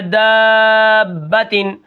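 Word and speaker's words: دَابَّةً: ہوتے ہیں۔ ٹھیک ہے، دال الف زبر مد با با زبر با داب تا دو زیر تین دابتن۔ ٹھیک ہے، اب یہاں پر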